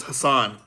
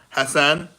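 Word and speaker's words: Hason: My name is Hassan. Um, I know in Arabic it's Hassan, but I spell it H A S O N. That's how I say my name.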